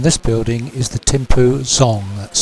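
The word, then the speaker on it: Dzong: Course good and this building is the tempo zong that's spelled d-z-o-n-g I suppose it could be described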